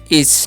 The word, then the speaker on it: is: करके बता सकते हैं आईएस लिखा हुआ है यहां पर समझेगा तो इसे हमलोग पढ़ते हैं इज ठीक है क्या पढ़ते